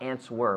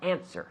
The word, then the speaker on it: answer: answer me good answer the W is mute there's no not ants were but answer answer me just like she